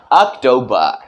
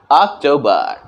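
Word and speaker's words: October: ऑक्टोबर लेकिन American English में केवल अ के जगह पर हम र का साउंड ला सकते हैं अक्टूबर अक्टूबर लेकिन किसी को यह ना लगे कि हमने र का प्रोनंसिएशन निकाला है र का उच्चारण वहां पर किया है हमें उसे साइलेंट रखना है और बात आती है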